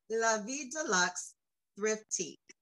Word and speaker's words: La Vie De Lux Thriftique: Tabetha is the founder, and make sure I pronounce this right, because I should have asked you before. But it is Vie De Lux Thriftique.